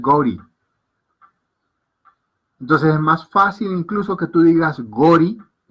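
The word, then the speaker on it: गौरी: Entonces ellos en su pronunciación angla te lo transliteran como Gauri. Pero se pronuncia es Gori.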